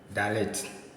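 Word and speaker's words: ד: sound then we have D dialect so this is a D sound D so whether this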